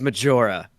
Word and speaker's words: Majora: i pre pronounce majora it's it's majora like like majora's mask it's it's matura so just had to address that real quick it is not spanish it's not me anyway